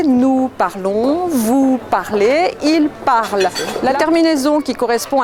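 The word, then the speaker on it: parlent: parle on vous parlait il parle la terminaison qui correspond à la troisième personne du pluriel la terminaison ent est muette on ne l'a prononcent pas je répète la conjugaison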